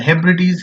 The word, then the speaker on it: Hebrides: The next word is Hebrides, and Hebrides have 3 syllables.